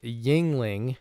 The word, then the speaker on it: Yuengling: about that as we go the brewery is Yuengling and son I had to look up the pronunciation of that to get it to get